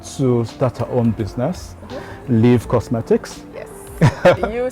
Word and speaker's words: Lyvv: Victoria has worked with brands like Apple, L'Oreal, and she gave up all that to start her own business, Lyvv Cosmetics.